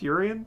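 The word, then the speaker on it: Urien: appreciate what is it urian as it pronounced yurian yurian I'm trying just trying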